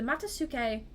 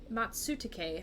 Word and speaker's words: matsutake: the person growing them the matasuke matsutake I keep pronouncing that wrong probably shouldn't have